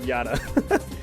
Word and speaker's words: Yata: It's not Mirror YASAKA, it's Mirror of YATA.